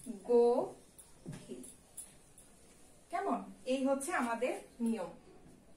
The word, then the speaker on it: গভীর: তারপরে দেয়া আছে গভীর, এটার উচ্চারণ কি গভীর, না, এটার উচ্চারণ হচ্ছে গভীর।